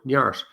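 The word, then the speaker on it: neart: an irish word called nyart n-e-a-r-t pronounce this an irish gaelic word nyart in an english translation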